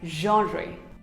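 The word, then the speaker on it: genre: subtract here's another word it is not gener not even generate it is pronounced as genry so was this video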